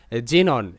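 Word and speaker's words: xenon: যেমন জেনন এক্স ই যে এন ও এন নন জেনন।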